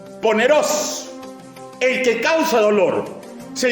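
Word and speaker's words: πονηρός: Maligno en el griego koiné se pronuncia poneros, el que causa dolor.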